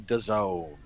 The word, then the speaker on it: DAZN: Which will be coming your way tomorrow evening on DAZN. Which rhymes with calzone.